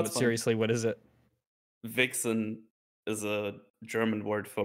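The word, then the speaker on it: wichsen: Vixen is a German word for masturbation. Really? How do you spell it? Yeah, you spell it like this. But you pronounce it like you pronounce it exactly like this.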